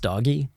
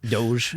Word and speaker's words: DOGE: It's not pronounced doggy. Oh, I thought it was pronounced Doge.